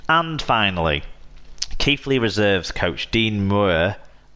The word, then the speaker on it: Muir: And finally, Keighley Reserves coach Dean Muir, that's how you pronounce it.